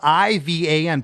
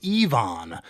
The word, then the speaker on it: Ivan: And the first time I noticed here, and it could be a different name, but it's spelled I-V-A-N, pronounced Ivan. And the second time it's pronounced Yvonne.